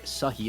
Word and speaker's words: Sahi: I am AJ Cannon, and I am joined by Sahi, and that is the correct way to pronounce it.